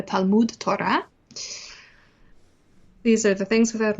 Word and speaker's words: Talmud Torah: study of Torah, and you'll hear him doing the Eastern European Ashkenazi pronunciation, the Salmud Torah instead of the Talmud Torah.